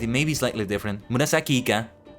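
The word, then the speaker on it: 紫イカ: Murasaki Ika, haha. I think that's how you say it. It may be slightly different. Murasaki Ika. The E kind of blends into the other word.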